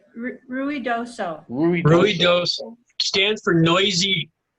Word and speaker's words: Ruidoso: or I got a chance to go to Ramosa. Am I pronouncing that right, Ramosa? You talking to me? Huh? Ruidoso? Who are you talking to? You. Me? Yeah, It's Ruidoso.